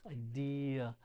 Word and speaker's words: idea: Idea. That's a weird one. It doesn't follow our rules. Idea. 3 syllables.